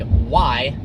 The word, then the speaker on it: Huayra: Once you know, it's like Huayra.